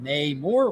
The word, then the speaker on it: Namor: Namor or Namor. Namor. Like amor in Spanish. According to the producers, it's like amor when spoken in the movie, because in the movie it means unloved son.